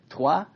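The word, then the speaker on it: Troyes: on the bible as i've been told correctly pronounced from trois right i got it now from from the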